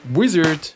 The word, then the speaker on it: Uizard: Uizard, pronounced wizard but spelled with a U.